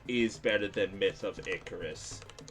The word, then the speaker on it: Icarus: better than Myth of Icarus. Shout outs to me pronouncing it Iicaris the first time I was playing it